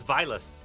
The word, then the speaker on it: Zweilous: I called Zweilous and Hydreigon by this correct pronunciation, but Dino is funnier. It's Zweilous.